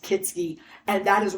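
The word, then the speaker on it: Kietzke: k i e t z ke and it's pronounced kitsy and that is wrong all the car lots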